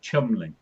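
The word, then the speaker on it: Cholmondeley: Well, So you know someone wrote put out that one that was Chumley, Chalmundley. yeah, I am going to try and paste in how this is written to pronounce on this webpage. okay. That apparently is Chumley.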